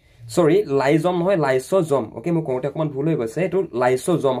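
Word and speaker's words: lysosome: কোন কুখাঙ্গানুক আত্মঘাতী মুনাবলী কয় হয় উত্তর হয়েছে লাইজোম সরি লাইসোম হয় লাইসোজোম ওকে ভুল হয়ে গেছে লাইসোজোম হ্যাঁ লাইজোম হয়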